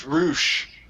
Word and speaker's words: Roush: row that's not rush that's about to premiere that is Roush apparently his name is pronounced Roush I'm